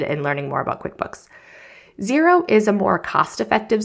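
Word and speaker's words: Xero: Another option is Zero. It's spelled X E R O.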